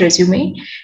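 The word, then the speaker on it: résumé: to pronounce it as resume so this is uh the word which we have taken from the french word and that means summary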